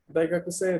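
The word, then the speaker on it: 大学生: Aquí la E larga. Daigakusei desu ka?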